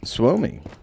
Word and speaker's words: Suomi: Suomi is how you say Finland in Finnish.